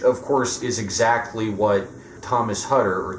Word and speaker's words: Thomas Hutter: Britain uh which of course is exactly what Thomas hutter or Tomas hutter is how they pronounce it uh does at the beginning of